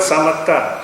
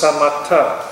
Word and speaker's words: samatha: Samatha has got no H there. S-A-M-A-T-A. It's a very interesting word. Samatha means harmony, because a noun, evenness. Okay? It includes samatha, S-M-A-T-H-A, the practice of calmness also.